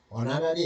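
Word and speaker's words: honorary: okay next he ওয়াজ অনারি ম্যাজেস্টের অনারারি এখানে এইচ এর উচ্চারণ হচ্ছে না এজন্য এটা অবশ্যই এন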